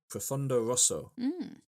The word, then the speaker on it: Profondo Rosso: It's in Italian, it will be pronounced Profondo Rosso.